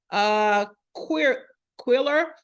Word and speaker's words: Qwilr: And then we have Quiller. It's spelled Qwilr, okay?